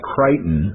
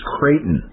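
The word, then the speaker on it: Creighton: the girl was attending kraton University and it spelled like it to me it's always looked like kryon C re e i g h t o n Katon it's actually pronounced kraton kraton University and it's a Jesuit university and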